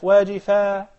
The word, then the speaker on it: واجفة: You gotta pronounce the ha. Initially, that's called ta marbuta. It's a ta, but it is written as a circle. So when you connect it, you pronounce it as ta in a continuous recitation. When you start at it, it is pronounced as ha.